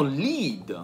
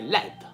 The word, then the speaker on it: lead: Poi abbiamo lead. L-E-A-D. Che significa comandare, dirigere. Infatti, da cui deriva leader. Però si può pronunciare anche led, che significa piombo.